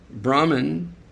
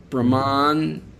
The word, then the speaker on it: Brahman: Brahman short a brahman long a.